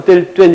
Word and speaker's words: 뗄돈: 그런 경전을 발견하는 분들을 뗄돈이라고 쓰는데 이 발음은 뗄된 이렇게 읽습니다.